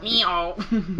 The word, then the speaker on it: Mijo: episode is called Miho I'm going to say it like the ABA in the episode last night Miho yeah so this episode